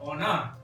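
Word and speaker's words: on a: he or she has, on ना, on आ, ओना, ठीक है, ओना।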